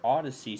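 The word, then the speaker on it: Audacy: I went back on their Odyssey stream that's not how it's spelled it's a u d a c y yeah yes I was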